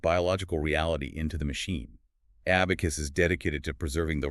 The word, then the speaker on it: 4B4KU5: Spelled with a four, a B, a 4K U5, pronounced abacus.